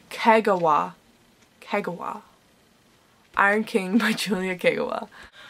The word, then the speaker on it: Kagawa: iron king by julia wagua i think i'm pronouncing her last name correctly no oh that was a fail julia kagawa iron king by julia